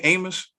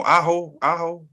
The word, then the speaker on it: Aho: Amos? No, Aho.